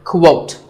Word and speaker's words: quote: Up next is the word quote. This is not pronounced the same as coat. The correct way to say it is with a qu sound at the beginning.